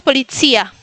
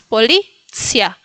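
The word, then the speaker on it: policja: Y en el último ejemplo y tampoco es polícia. Perdón, no pongan acentos, no es polizía. Polizia. Si si quieren poner un acento, pónganlo en el medio, en la sílaba de medio. Entonces, policia.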